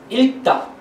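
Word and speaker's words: 읽다: বা ল বা এল আমরা এল এর মতো উচ্চারণ করি সুতরাং এর উচ্চারণটা হবে বা ইলতা উচ্চারণটা ইলতা এখন এখানে দেখেন প্রথম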